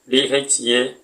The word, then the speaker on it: தயவு: For the convenience sake, the word Dayavu is spelled Daeiou, but pronounced as Dhayavu.